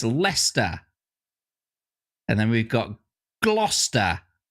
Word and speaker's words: Leicester: That's how it's spelt. And how it's said is Leicester.